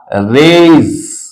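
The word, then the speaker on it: rays: उसका पलल बनाते हैं तो य होगा रेज हम लोग रेस नहीं बोले स नहीं बोलेंगे हम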